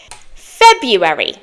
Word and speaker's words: February: to practice today is February February but it's spelled February February can you say that